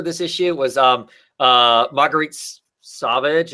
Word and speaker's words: Sauvage: It was Marguerite Sauvage. Is that how you say her name? Savage, yeah. Savage.